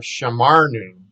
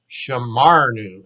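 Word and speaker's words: שָׁמַרְנוּ: Now we go back to the we form up here, shamarnu, shamarnu. Accent is on the ma, shamarnu.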